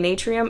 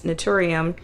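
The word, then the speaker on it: Naturium: couple months ago that I have been pronouncing this brand the wrong way I keep saying natrium it's nutum um they're the you know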